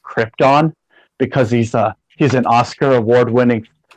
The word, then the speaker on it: Krypton: had the audacity to tell Marlon Brando it's pronounced Krypton, because he's an Oscar award-winning actor. They're like, excuse me, Mr. Brando, it's pronounced Krypton.